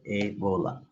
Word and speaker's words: Ebola: Even this rule applies to words like Ebola, where it is pronounced as a, then bola. It is not eb, o, and la. No, this is not the way, but we make it here, Ebola.